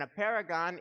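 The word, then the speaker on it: apeirogon: i r o g o n and in a paragon is a geometric form that has an infinity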